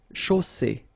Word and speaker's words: chaussée: And then you get the double S between two vowels, so it's really strong. I mean, the S is s. Okay, so une chaussée.